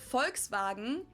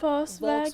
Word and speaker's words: Volkswagen: But even if we did go by the full name, it would be pronounced Volkswagen and not Volkswagen?